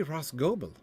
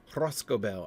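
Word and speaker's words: Rhosgobel: It should be Rosgobel, shouldn't it? There's no way the stress is on the final syllable there. Roscobel, I agree, it's a very attractive name.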